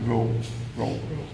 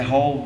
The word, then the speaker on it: row: A pronúncia, presta atenção na pronúncia. Row. Não é roll, não. É row.